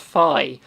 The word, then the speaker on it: Fi: us so quite bitter on that one um fee makes you think of fee from i think it's in skyward sword it's pronounced phi because in hyrule warriors they pronoun the narration